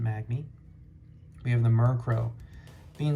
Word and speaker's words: Magby: We got the Magby, or the Magpie. How do you pronounce it? I pronounce it Magby.